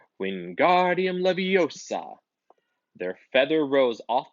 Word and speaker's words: Wingardium Leviosa: much more luck when Guardian larosa he shouted waving his long arms like a windmill you're saying it wrong Harry Hermione snap its Wingardium Leviosa makes the GAR nice and long you do it then